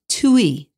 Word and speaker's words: tuile: a tuile in America but in French it's pronounced to e for roof tile because it's so thin so